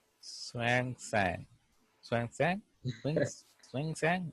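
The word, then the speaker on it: Xuanzang: so H is H hang okay yeah s is silent Swang sang Swang sang SW swing sang okay it's a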